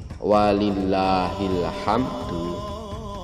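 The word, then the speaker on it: وَلِلَّهِ الْحَمْدُ: Mim di sini juga ada alirannya, tidak ham, tidak ham ya, sedang saja ham ya, jadi bacanya walillahil hamd, walillahil hamd ya, walillahil hamd, seperti itu.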